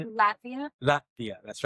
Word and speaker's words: Latvia: She's from Lavita. not here. Latvia? Yeah. That place. How do you say it? Latvia? Latvia.